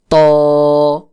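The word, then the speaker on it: ط: দাঁতের গোড়ার সঙ্গে লাগাইয়া, জিহ্বার আগা সামনের উপরের বড় দুই দাঁতের গোড়ার সঙ্গে লাগাইয়া চাপ দিয়ে উচ্চারণ করতে হবে।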